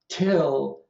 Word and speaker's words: till: One context where you clearly get the unaspirated stop, unaspirated voiceless stop, is when you have an S preceding the T, P, or K sound in a stressed syllable. So still has an unaspirated stop, till has an aspirated stop.